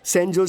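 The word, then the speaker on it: San Jose: O sorry sorry sorry sorry sorry सैन होज़ एस ए एन जे ओ एस ई इसकी spelling यही है ना लेकिन इसमें जे साइलेंट रहता है इसलिए इसे सैनोजे बोलते हैं।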